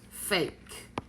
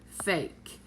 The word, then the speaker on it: fake: be like the word fake okay fake it is one syllable but it has two vowels so the reason it only has one syllable is because it's a vowel consonant so that will consonant